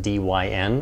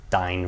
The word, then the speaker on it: Dyn: internet attack that occurred against dyn or it's probably pronounced dine for you know short for dynamic Dynamic DNS many attacks